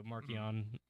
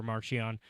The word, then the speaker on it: Marchion: And so, but in the case of Markion Road, that is the preferred pronunciation. That is the preferred. So Markion over Marchion, and Nathema over Nathema.